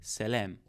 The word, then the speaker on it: salam: And the way you pronounce it is like just saying simply like salam.